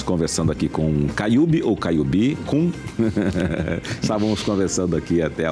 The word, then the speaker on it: Caiubi: Porque a palavra indígena é tupi, o nome Caiubi, né? E aí eles acentuam a última sílaba sempre naturalmente. Então, se for falar a palavra em tupi, é Caiubi. Só que se for ler ela em português, aí é Caiube.